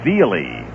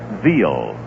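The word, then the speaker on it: Veale: Then there was a big left-hander with the Pittsburgh Pirates who said his name was Bob Veely. Strike 2 pitch to Tony outside. And then after he had been around the league for a couple of years, he pronounced it Veal.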